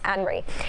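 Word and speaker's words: Henri: You'll see what I'm talking about, but it's actually pronounced Henry.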